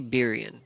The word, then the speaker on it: Birian: Melee Birian, right? Birian is the pronunciation for the last one.